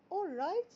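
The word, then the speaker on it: alright: مع بعض قاللها اوررايت اورايت يعني صحيح ارايت الاي ال في الانجلش بننطقها اورايت سبورت ميك ميك اس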